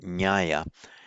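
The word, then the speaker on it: ñāya: Many of you will be familiar with that word in Pali, spelt with an N with a tilde, not an NY, nyaya.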